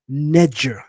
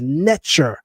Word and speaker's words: neter: So that in the Old Kingdom period, they were saying neger. neger, as if it would be spelled neger.